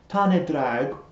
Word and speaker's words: Tân y Ddraig: cheese sandwich to try the tane drag as i believe it's supposed to be pronounced from a bit of